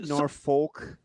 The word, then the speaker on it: Norfolk: Right there at home at Norfolk State. Probably not a Now, are they Norfolk?